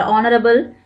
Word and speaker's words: honorable: Even though these words begin with H, a consonant, when you pronounce them, the H is silent. The first sound of the word is the vowel sound A.